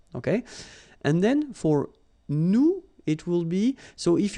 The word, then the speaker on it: nous: if you remember correctly, so final S is not pronounced here. Okay, and then this O-N, so it's a nasal and it goes in your nose and it goes like on.